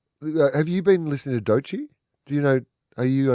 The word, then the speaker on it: Doechii: I know it's pronounced Doechii. Doechii, like Yochi, rhymes with Yochi.